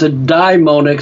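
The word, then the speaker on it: daimonic: demonic identity is real I pronounce it I pronounce a dime onek so the fundamentalist well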